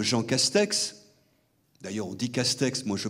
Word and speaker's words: Castex: L'actuel Premier ministre, Jean Castex, d'ailleurs on dit Castex, moi je prononce Cachetéo, parce que c'est une graphie de...